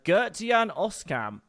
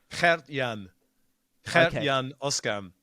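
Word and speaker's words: Gert-Jan Oskam: would like to try which is uh gertian oscam how good is that it's actually hurt Yan Oscar yeah but I mean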